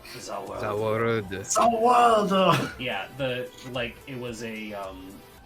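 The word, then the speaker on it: Za Warudo: Zawaldo.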